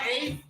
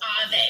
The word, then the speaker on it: Ave: Don't you see who you are, Abe? Don't you see? Are you there, Abe? Are you there, Abe? Yes, I'm still here. And I'm sorry, my name is pronounced Ave. Ave, Ave, Ave. Ave Maria, Ave.